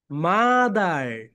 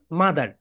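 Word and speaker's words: mother: ওকে, তো সো এটা হচ্ছে ব্রিটিশ সাউন্ড হচ্ছে মাদা, অ্যান্ড আমেরিকান সাউন্ড হচ্ছে মাদার।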